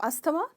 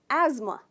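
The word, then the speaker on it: asthma: ये गलत प्रोनाउंसिएशन है, इसमें हम थ का साउंड बिल्कुल नहीं करते हैं, इसको कहते हैं एज़मा, एज़मा। ट्राई कीजिए, एज़मा। तो इसमें आप स्ट्रेस करते हो एज पर, एज़मा, राइट।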